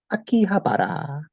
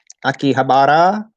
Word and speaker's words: Akihabara: So you know, on the trains, the announcer goes Akihabara, Akihabara des, and then you know Akihabara, or in English, English people, Akihabara.